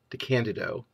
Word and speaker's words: DeCandido: the moderator was Keith DeCandido that's how it's pronounced the Candido and I I don't